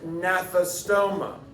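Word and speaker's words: Gnathostomata: world agnatha and then naphthostoma with the silent g at least on the naphthostoma based on what you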